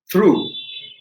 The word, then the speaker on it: through: come to the same the second one where we've got through t h r o u g h it is like the o in two which becomes through so oug